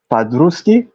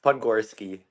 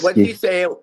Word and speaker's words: Podgorski: Padruski, Close. Podgorski. Once Podgorski. you say it once, you'll get it. Podgorski. Yes. It's a Polish name.